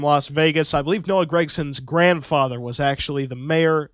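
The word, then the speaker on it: Gragson: his name aren't i isn't it gregson it's spelled g-r-a-g not g-r-e-g g-r-e-g is greg like greg biffle g-r-a-g is greg i think it's gregson but i can't force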